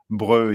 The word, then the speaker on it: Breut: Breu is spelled Breut. Breu.